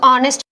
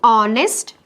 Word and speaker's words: honest: say on a suppose honest so which article will you use you have to use an honest man in the content H is silent the word begins with